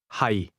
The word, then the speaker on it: 係: 係。 Notice the low, level tone in the word am or to be.